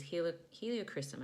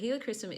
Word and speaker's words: helichrysum: essential oil journey is heliochrysum i always mispronounce that but helichrysum is great for the